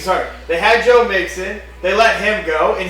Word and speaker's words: Joe Mixon: Joe Mixon. Sorry. They had Joe Mixon. They let him go and he was so You know Joe Mixon?